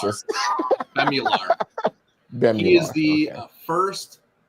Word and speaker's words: Bemular: Eric, how do you pronounce this? Bemular.